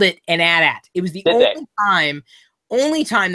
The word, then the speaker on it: AT-AT: But I just can't call it AT-AT. I can't either. It doesn't work. So, I said that the right way to say it is AT-AT, but I mean, it's so here's the thing.